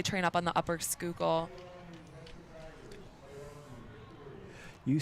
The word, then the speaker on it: Schuylkill: yes so they train up on the upper skookul you say skookle like you're uh from here that's amazing you